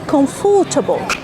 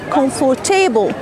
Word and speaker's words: comfortable: after F don't say comfortable strong don't say comfortable wrong it's comfortable this is the first